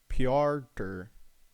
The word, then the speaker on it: Piotr: So how do you pronounce Piotr pronunciation? Piotr. Yeah, that's what I said. Wait. Piotr.